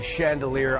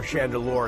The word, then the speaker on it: Chandeleur: If you go out into the Gulf and the Chandelier Islands, or Chandeleur, it depends on where you're from down here and how you pronounce it, and you look at